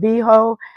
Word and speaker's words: Veho: So I was telling you guys about making extra money from the company called VHO. It's spelled VEHO.